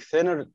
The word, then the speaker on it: thinner: خلي بالك thinner بتتنطق ثاء.